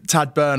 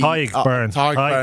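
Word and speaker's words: Tadhg Beirne: Tad Byrne, I think, has been incredible. For me... Tyg Byrne. Come on. Tyg Byrne. How often are you doing this with Shawnee and you haven't got your Irish pronunciations right?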